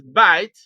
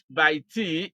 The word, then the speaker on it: bite: a silent E is bite B i t e here e is silent it is not by T it is bite for this reason the vow is long so what we have